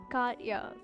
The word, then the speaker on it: Katya: Katya is how her name is pronounced.